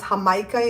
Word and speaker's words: jamaica: be sorl sorl um it's known as hamaika in the store it's it's spelled like Jamaica and it's the dried Joel